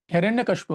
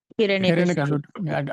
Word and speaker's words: Hiranyakashipu: he was born to a terrible Rakshasa, demon, Hiranyakashipu, right? What was his father's name? Hiranyakashipu. It doesn't matter. Mr. A, difficult to pronounce.